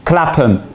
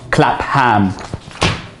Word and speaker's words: Clapham: It's Clapham, not Clapham.